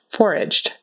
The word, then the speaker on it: foraged: Foraged. That E on the end is really just a D sound.